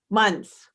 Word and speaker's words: Muntz: Did I pronounce that correct? Muntz. Muntz, Muntz.